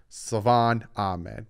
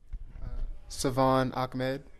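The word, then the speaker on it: Salvon Ahmed: i've been told constantly there's no c or k in his name stop calling him ahmed it's ahmed savan ahmed but actually the miami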